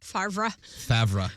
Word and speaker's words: Favre: say it wrong but that's also it's the same misspelling as Brett Favre's last name is f-a-v-r-e Favre favorite which is one